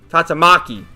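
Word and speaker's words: Tatsumaki: been confirmed that yes tats mookie sorry I never read one punch man so I don't know how to pronounce her name tatsumuki tatsamaki that's how it is does wear panties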